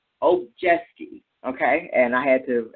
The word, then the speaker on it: Obijiski: Obijiski, okay?